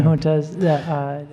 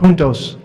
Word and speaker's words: Juntos: Yeah, 4-H, but also training for jobs and with the Hispanic population, the juntas, I can't pronounce it. Juntos.